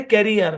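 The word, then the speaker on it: career: প্রথম শব্দ অংশের উচ্চারণ ক্যা, পরের অংশের উচ্চারণ রিয়ার। তাহলে দুটো মিলিয়ে ক্যারিয়ার কি উচ্চারণ বলেন?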